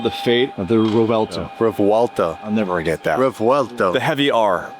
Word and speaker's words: Revuelto: Revuelto. I'll never get that. Revuelto. You got it. It's It's the V is pronounced as if you're sounding out a W. Revuelto.